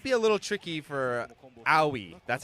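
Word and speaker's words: Aoi: This might be a little tricky for owi. That's how it's pronounced. I I double checked it. So how Owie works is she is kind of like a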